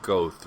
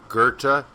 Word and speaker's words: Goethe: isn't an R but you're better off saying Gerta than goth the the best way